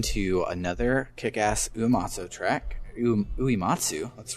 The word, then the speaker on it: Uematsu: Uematsu, let's pronounce his name right.